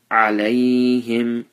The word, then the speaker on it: عليهم: Alayhim, make sure that you pronounce the ayn properly.